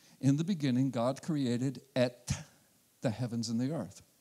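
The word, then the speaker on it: את: It's pronounced in Hebrew as et, et. Sometimes it's spelled E-T-H, but the pronunciation is et.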